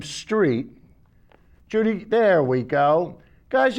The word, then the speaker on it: Strait: And the reason why I said Dave Strait is, Judy, can we have still number 1, please? And you'll see why I pronounce his name Street.